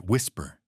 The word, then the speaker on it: WSPR: A technology called WSPR, pronounced whisper.